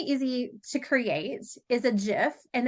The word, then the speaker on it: GIF: Okay, something really easy to create is a GIF, and it is pronounced GIF. Some people say GIF, but GIF is the official, the person who GIF, like the peanut butter.